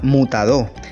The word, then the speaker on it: Mutadó: Su nombre viene de la pronunciación indígena Mutadó, que significa valle de piedras.